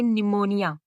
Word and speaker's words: pneumonia: ध्यान रखना है, इसमें पी जरूर है पर इसको पढ़ेंगे निमोनिया।